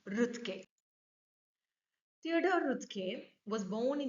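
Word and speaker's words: Roethke: by Theodor rut see the pronunciation is Theodor rut Theodor rut was born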